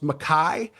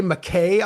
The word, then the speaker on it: MacKaye: And when we recorded it, I didn't know that his name was pronounced MacKaye. So, I say McKay on the record and the right and it of course it rhymes with something.